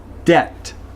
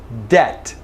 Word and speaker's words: debt: Okay, so now here in this word the T is necessary, but the B is out. This word is debt, debt. No B at all whatsoever.